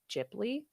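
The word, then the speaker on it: Ghibli: I ask a question is it gibli or jibli so there are people who pronounce it both ways Tech technically I think I've heard that it is supposed to be jibli okay but I say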